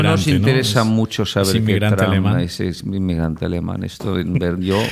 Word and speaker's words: Trump: Sí, a mí me molesta que se que todo el mundo dice Trump, aunque es Trumpf, porque él él tiene,